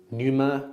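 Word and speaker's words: Pneuma: Numa clothing, which is really nice. Oh, with the silent P at the front, right?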